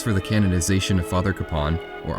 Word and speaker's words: Kapaun: While not yet a saint, the cause for the canonization of Father Kapaun, or often pronounced Capon, has been fought for in the last few decades.